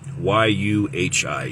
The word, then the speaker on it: Yuhi: Anyhow, Y-U-H-I, Yuhi, is how his name is pronounced, and I'll put the kanji down in my crotchal region, which will be your comments later.